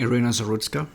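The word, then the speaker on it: Iryna Zarutska: So, and I believe I don't know exactly how to pronounce her name. Ireina. Arena Zerutska.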